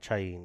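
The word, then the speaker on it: Chaín: How do you pronounce it? Is it Chain? Chain, yeah.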